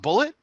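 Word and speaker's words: Bulleit: And he's like, no, I'm pretty sure it's Bulliet because it's spelled. He even spelled it for. I was like, Yeah, no, he that's spells Bullet. like Yeah, it's that. Bullet. That's It's Bullet it's County, bullet. Kentucky is where it's from. And he's like, Yeah. oh, it's pronounced Bullet.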